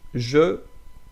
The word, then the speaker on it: je: By the way, so je, like the syllable, when you have one syllable like that, je me, we will read this e like e. Je, it's like me, I, yeah.